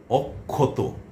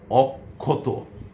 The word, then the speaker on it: অক্ষত: আবার মধ্যে বসলে অক্ষত, অক্ষত। এই যে ক আর খ আসছে, এই হচ্ছে ক্ষীয় এর উচ্চারণ রূপ। আপনারা এটা জানেন, আমিও এই বিষয়ে আলোচনা করেছি, অনেকটা বিশদভাবে আলোচনা করেছি।